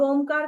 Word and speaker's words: ओम: बार करते हैं तो ओमकार किस तरीके से करना है अ उ म तीन लेटर्स है जिसमें अ का उच्चारण दो सेकंड उ का उच्चारण तीन सेकंड और म का उच्चारण पाच सेकंड करना है अ जब बोलेंगे